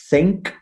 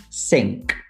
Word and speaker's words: think: either f or s these sounds are different sounds in english and if you use that sound to replace the th sound you might create a misunderstanding yeah the word think is not the same word as sync because that's clearly something else um absolutely um then